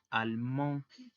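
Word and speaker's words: allemand: pronunciación es igual que en singular almón la d y la s al final no se van a pronunciar y para el caso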